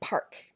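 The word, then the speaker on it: parc: l so for example the word par p a say oops I'm speaking French p a r c i can say park and I can pronounce the C but the word poor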